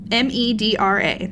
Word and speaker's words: Medra: I'm madra pin dragon what's her name medra let me spell it m e d r a looks like medra medra last of the Dragon